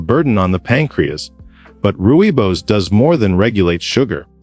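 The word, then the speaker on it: rooibos: Originating from South Africa, ruibos, pronounced roy boss, is made from the leaves of the aspalathus linearis shrub.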